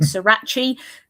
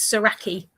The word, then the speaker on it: Soracchi: Saraki and also that we pronounce it right because I hear a lot of people saying Srirachi, that's not it. That's a hot sauce. Um, and yeah, so it's it's Saraki.